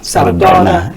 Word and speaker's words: Sardauna: Please help me pronounce that name, Sardauna. Did I get it right? Sardauna.